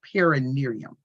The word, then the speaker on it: perineum: The perineum. Perineum. Perineum, that's how you say it.